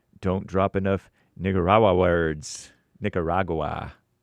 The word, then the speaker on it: Nicaragua: Nicaragua is how it's pronounced in Spanish. Nicaragua. Oh, amazing. Nicaragua.